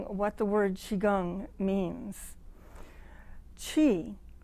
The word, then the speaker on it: qi: the word qigong means qi the first part of the word spell q-i and pronounced as if you were going to say cheese chi means breath but